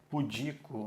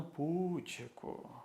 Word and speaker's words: pudico: hora o cuidado cuidado porque o certo é pudico o que que não tem maldade né Ele é muito pudico ou ela é muito pudica e não putco depois da Península Ibérica